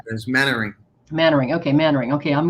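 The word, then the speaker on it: Mainwaring: it's it's written main wearing but it's actually pronounced mannering so like there's mannering mannering okay mannering okay i'm going to get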